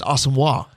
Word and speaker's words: Asamoah: It's Asamoah. Yeah, Judd Zulgad went over to talk to him, and Asamoah kind of walked away from him because Judd's